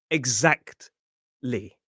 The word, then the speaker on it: exactly: Maybe I could just get rid of that t sound and make it exactly. Exactly. If you are trying to pronounce the t in exactly, you're going to struggle.